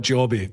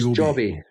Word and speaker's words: Joby: This is it pronounced Joby or Jobby? I'm never Well, we're sure. Scottish, so we'll call it Jobby, but I think it is It's Joby.